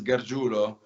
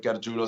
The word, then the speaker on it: Gargiulo: from the fact that my last name is garguro which it's possible to pronounce but if you see it written it doesn't look like it sounds like garjulo so so when you